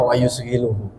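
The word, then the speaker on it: ويشغله: ngancani Kalau bahasa Jawanya wausghiluhu ini bacanya sebenarnya wausghiluhu wausiluhu Dan menyibukkanhu kepada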